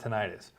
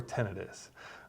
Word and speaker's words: tinnitus: Today we're going to talk about tinnitus, or tinnitus, depending on where you want to put the emphasis on that syllable.